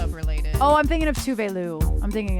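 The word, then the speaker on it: Tove: called Habits by tuu which looks like too but it's pronounced tuu and yes she does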